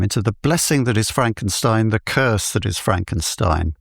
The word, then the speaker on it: Frankenstein: My name, it's pronounced Frankenstein.